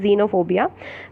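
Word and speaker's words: xenophobia: जीनोफोबिया, the correct pronunciation is जीनोफोबिया।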